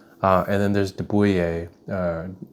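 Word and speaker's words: de Buyer: uh and then there's deuer uh it's spelled like d e b y like deer it's a French brand uh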